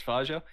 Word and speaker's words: Fajo: So Fajo, how do you pronounce his name? Fajo. It's Fajo. Yeah. Fago.